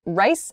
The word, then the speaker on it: rice: lice rice and lice sometimes people have difficulties making the r and the L sounds very clearly words such as these so rice rice um so when again exaggerating that sound but rice my whole mouth comes together to make that R sound initially rice rice uh when I make the l sound for lice lice my tongue is touching the top of my mouth lice but and